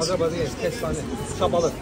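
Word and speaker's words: şabalıd: Shabalat. Shabarat?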